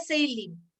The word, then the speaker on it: Salem: Y la última es la sonda Seilin, ya que está escrito ahí, se escribe Salem, pero se pronuncia Seilin, así se dice esta sonda, ¿ya?